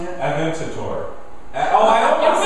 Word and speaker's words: Aventador: Aventador. I almost said it. You tried. Your turn. I'm not. I've said it right, but I didn't. I'm going to try, although it helps Aventador. me see it. Aventador.